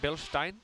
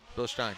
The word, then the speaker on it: Bilstein: Is that how you say it, Bill Stein? Bilstein. That's cool. That's German.